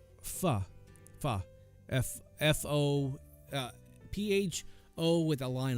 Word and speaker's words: pho: Pho. F-O P-H-O with a line above it. Pho.